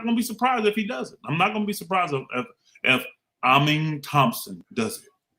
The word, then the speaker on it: Amen: I'm not going to be surprised if Amin Thompson does it. Amen. Amen. It's amen, bro.